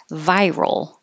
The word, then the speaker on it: viral: and we started with viral viral so remember this RL movement from the r to the L you keep your voice